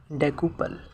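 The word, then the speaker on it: decuple: spelling है डी ई सी यू पी एल ई डेकुपल इसका मतलब है 10 या 10 गुना मैंने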